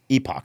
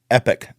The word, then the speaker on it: Epoch: Newsmax only oan oh yeah and Epic Times Epoch she calls it I've heard it called that too no I actually she have you read the epoch times I go I I let's find out